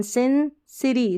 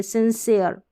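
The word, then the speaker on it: sincere: चलिए फिर देखिए सिंसियर, सिन, एस आई एन, सिंसिरी, सिंसिरी नहीं पढ़ेंगे, सिंसियर। तो ये आप उच्चारण जैसे मैं पढ़ रही हूँ वैसे प्रैक्टिस कर ले, सिंसियर।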